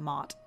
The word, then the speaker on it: Ma'at: wanted to focus on Mot. And her name is pronounced differently in a lot of different places, but this is the one that I first learned, and that's spelled M-A-A-T if you want to research her a little bit more.